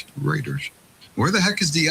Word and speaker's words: Reuters: Pronounced Reuters. Reuters.